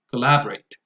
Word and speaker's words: collaborate: But then again, the right stress is communicate and collaborate, second syllable, as you can see here.